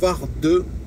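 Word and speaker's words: Vardø: aujourd'hui c'est direction la commune de Varde ça s'écrit vardeau qui a a la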